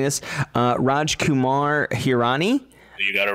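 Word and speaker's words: Rajkumar Hirani: by um and please correct me if i'm mispronouncing this uh raj kumar hirani you got it right and also thank you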